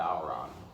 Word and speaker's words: bodhrán: importantly how it's pronounced so the name of the drum is called the bauron however if you look at the spelling of it b o d h r a n this is